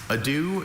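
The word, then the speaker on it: adieu: Ado is was formed in French from Latin derived elements uh before becoming English. Adu.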